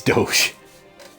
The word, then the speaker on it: Doge: I've heard it called Doggy Coin. No, they've made multiple. I'm sure there's a doggy coin, but it was Dogecoin. I'm talking about the pronunciation. Oh, fuck you. It's Doge.